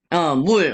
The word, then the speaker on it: 물: 물, oke, 물야, 물. jadi L itu menjadi 받침, bacanya L, 물.